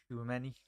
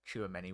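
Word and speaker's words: Tchouaméni: It's Tchouameni. A lot of people do. I've been in the past. I've said Tchouameni, which is probably the wrong pronunciation.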